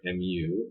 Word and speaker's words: mu: It's pronounced mu, mu.